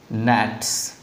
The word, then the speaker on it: gnats: Next है आपका नैट्स। क्या है? नैट्स, GNATS, नैट्स, ध्यान दीजिएगा इस वर्ड को, GNATS, नैट्स। इसमें जी साइलेंट होते हैं, मतलब जी को नहीं बोला जाता है, ध्यान रखिएगा नैट्स में।